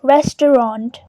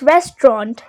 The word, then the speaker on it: restaurant: The second syllable is just t, and then the third is rant, so it is Res-te-rant. In British English, you might hear just 2 syllables, which is restaurant.